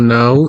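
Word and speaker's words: ناو: a second so now his name or now n-a-w but it pronounced this way the phrase pronounced upwards now now English and Kurdish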